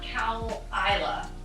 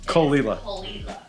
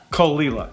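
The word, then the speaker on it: Caol Ila: an island that's height not cow isla as many might guess it's kolila kolila that's how you say it that sound now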